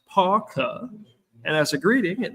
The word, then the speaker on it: PAUCA: PAUCA is pronounced PAUCA, and as a greeting, it means I got your back.